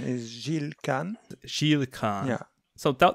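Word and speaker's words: Gilles: website that you started your research working with gilan sorry if I butchered his name French is the French pronunciation is zilan Shield KH yeah so tell tell us a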